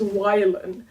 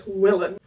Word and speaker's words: Wylan: I always say it in my head as wylan, because a Y, like the letter, in Dutch would be pronounced I most of the time, but wylan is not really a name, and it's also weird to say. But wylan, on the other hand, sounds very similar to Willem, which is a very common Dutch name.